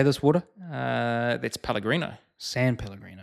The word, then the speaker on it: San Pellegrino: San Pellegrino. San Pellegrino.